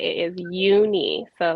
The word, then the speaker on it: Youni: So I just want to say it is Youni, so like Yeah.